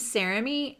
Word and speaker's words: Sarami: My name's Sarami, and which is also kind of a unique name. It's like Jeremy with an S.